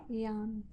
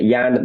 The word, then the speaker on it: Jann: say your name how you say it properly Yan it's a Yan mod b B okay great that was